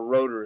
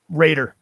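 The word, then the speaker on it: Roeder: a fucking monster drummer rotor is holy shit that guy is a good drummer Raider to pronounce Raider Raiders sorry it looks like rotor he's just a killer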